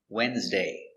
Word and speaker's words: Wednesday: It's a very common word, but it's not pronounced like it's spelled. The D is silent. And the E is silent too. Wednesday.